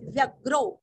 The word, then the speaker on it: व्यग्रो: प्रग्रहो प्र के ऊपर आघात प्रग्रहो नी के ऊपर आघात निग्रहो व्य के ऊपर आघात व्यग्रो व्यग्रो प्रग्रहो निग्रहो व्यग्रो।